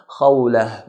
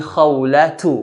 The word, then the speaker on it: خولة: Ismi khawlatu, masmuki, khawlatu. So if we're going to stop, it's a ha. If we're going to continue, it's a ta.